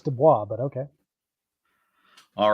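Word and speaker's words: DuBose: no that's that's how it's spelled but it's pronounced Dubois so I don't know I don't get that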